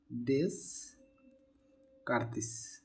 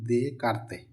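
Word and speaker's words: Descartes: তো এই স্থানাঙ্ক সম্পর্কে সর্বপ্রথম মাথায় আসছিলেন একজন ফরাসি গণিতবিদ তার নাম হল ডেস কার্তিস আসলে তার নামের উচ্চারণটা ডেস কার্তিস হলেও তার নাম হল দে কার্তে বাংলায় হবে দে কারতে যারা গণিতের ছাত্র বা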